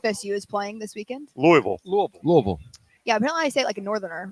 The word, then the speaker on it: Louisville: Louisville there's no s Louisville Louisville anyway nobody says the S though right no Louisville Louisville no